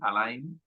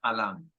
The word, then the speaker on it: Alain: Celta Entonces por ejemplo en euskaris escribe tal cual se lee a Line pero si tu origen es francés galo Entonces se pronuncia Alan Alan lo que pasa es